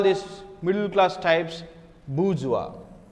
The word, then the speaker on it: bourgeois: i s I so this is pronounced as wa okay so Karl Marx